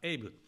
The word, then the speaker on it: 安倍: から感謝申し上げます私の名前は阿部でありますがと距離にアメリカではエイブと発音されますしかし